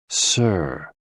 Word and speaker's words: si: associated with the heart SI pronounced like Sir with a slow exhale which is associated with